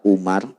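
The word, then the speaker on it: عمر: Kalau dalam bahasa Arab kalau lapan Umar ada wawunya dibacanya Amar. Kalau Umar nggak ada wawunya di ujungnya. Misalkan Ain Mim Ro, begitu kan? Kalau hanya Ain Mim Ro dibacanya Umar. Tapi kalau Ain Mim Ro kesananya ada wawu dibacanya Amar, begitu ya.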